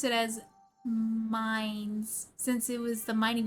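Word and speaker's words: Mainz: And I hated that it was a village called Maines. Oh, like Maines? I think it's supposed to be pronounced in the Japanese like syllables.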